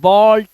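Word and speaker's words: ball: पर double L लगा हुआ है तो डबल एल लगा है ए के बाद तो वो ए नहीं है वो ओ है ठीक है ऐसे ही बॉल toll स्टॉल कॉल फॉल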